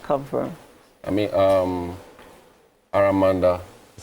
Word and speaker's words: Aramanda: I mean um aramanda is how it's pronounced aramanda.